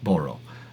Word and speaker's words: Boro: I'm mispronouncing the the core name is what it is. Boro. Appreciate you, Boro. And thanks for correcting me on that. Don't worry, everyone says it wrong. Well, today, we stop saying it wrong. Today, here, and now, Boro, we are saying it right.